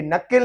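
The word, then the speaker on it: knuckle: और यहाँ पे ये नकिल है, जो नकिल जो होते हैं वो नकिल का के साइलेंट है, तो के नहीं पढ़ेंगे हम यहाँ पे।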